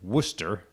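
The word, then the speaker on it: Worcester: Wooster Wooster you don't even get started on the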